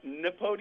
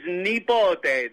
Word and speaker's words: Nipote: Well, could you give us the proper pronunciation? It is Nepot.